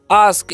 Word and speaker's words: ask: क्या लिखा हुआ है यहाँ पर, ASK, तो इसे अस्क नहीं पढ़ना है, ठीक है। क्या पढ़ना है, ए का उच्चारण यहाँ पर आ करना है, तो क्या करेंगे हम आ, और एस का उच्चारण स और के का उच्चारण क, तो हो गया आस्क। इसे क्या पढ़ते हैं, आस्क पढ़ते हैं।